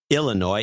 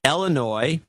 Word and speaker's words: Illinois: So it's not Illinois, it's Illinois, milk, and pillow.